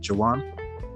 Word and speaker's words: Jawan: Today we have a friend of mine, Jawan. Is that how you pronounce it, Jawan?